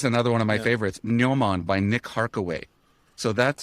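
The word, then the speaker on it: gnomon: memory um absolutely fantastic Noman uh spelled with a g g n o m o n which is the uh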